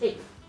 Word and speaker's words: eighth: into one phonetically because nobody is saying somebody came in eight ETH. That's a pain. So instead, what we say is eighth, right? We again we merge the th and the t together.